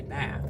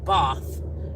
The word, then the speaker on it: Bath: a sleepover in Bath, spelled Bath, Bath, like Americans say Bath, but it's Bath.